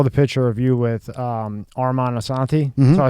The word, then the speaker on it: Armand Assante: So before we get into all your stuff, when I was going through it, I saw the picture of you with Armand Assante.